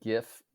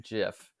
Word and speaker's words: GIF: That's good to know because I said GIF up until literally today and I was very resistant to adopt the the soft G uh GIF for whatever reason. But I feel like at this point I have just heard it way more than I've heard the hard G.